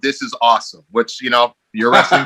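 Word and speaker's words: Osym: album that was on was called this is awesome which you know you're wrestling that speaks to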